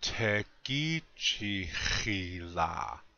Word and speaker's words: tekichihila: And then we come up with the word tekichihila. And that means love one another. Again, the accent is on the second syllable.